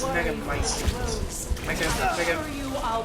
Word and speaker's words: Megamycete: Now, I still can't please pronounce that. don't It's worry, Megamycete.